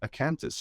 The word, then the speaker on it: Acanthis: their companies Dean Summit who's founder founder of acanthus is that the right pronunciation there yes it is great so I